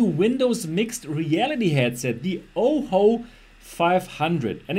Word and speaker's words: Ojo: mixed reality headset the oho 500 and it's written Oh Jo Oh Jo 500 but is being pronounced as oho 500 and they might have